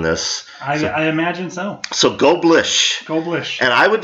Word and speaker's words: Goblirsch: My last name is Goblirsch. Goblirsch, ladies Goblirsch. And gentlemen. Silent R, silent C.